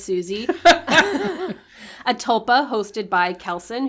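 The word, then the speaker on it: Siouxsie: we totally bang says susie a tulpa hosted by kelson who wanted his tulpa susie's the tulpa it's spelled s-i-o-u-x-s-i-e i guess you're asking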